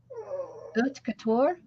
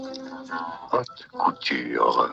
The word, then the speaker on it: haute couture: Haute couture?